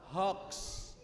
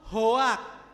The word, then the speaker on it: hoax: Yang betul yang maca niku hoax. You know what I mean? Pinter. In English is the pronunciation is hoax, you know? Not hoak, you know?